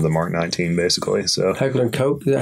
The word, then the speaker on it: Heckler & Koch: So Heckler & Koch?